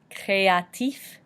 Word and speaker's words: créatif: For example, créatif, créatif, meaning creative. We have that E with the accent aigu sound, making A, and then we have the I making the E noise, and F being pronounced at the end.